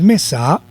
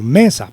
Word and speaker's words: mesa: la mesa cierto entonces no es mesa sino mesa por lo tanto el acento lo lleva en la sílaba me mesa me está muy